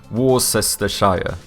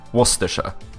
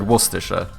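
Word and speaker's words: Worcestershire: so I would obviously like to say something like warer Shire but I know that's not it this is going to be like waser right I bet it's some like waser you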